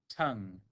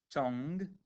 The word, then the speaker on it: tongue: sound making that mmm depending on where you're from in the world some people might pronounce this as two sounds tongue is one example if